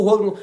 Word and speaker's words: Roland: Porque o nome dele, eu vou falar a pronúncia certa do cara, é o Roland mesmo, né? O Roland.